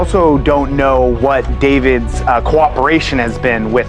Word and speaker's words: D4VD: For those unfamiliar, D4VD, pronounced David, is the breakout sensation behind the hauntingly emotional track.